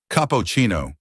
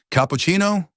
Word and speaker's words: cappuccino: "I'll have a capoccino," he said, his voice confident, but tragically mispronouncing the name of the drink.